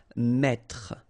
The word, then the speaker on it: mettre: That's the reason why you will pronounce mettre, mettre. Don't insist on the final E.